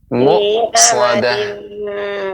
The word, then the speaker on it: مؤصدة: Muqsadah. Ibu, pengucapan hamzah benar-benar kita berikan haknya, ya, benar-benar jelas, berhenti, artinya tertahan, bukan berhenti, tertahan.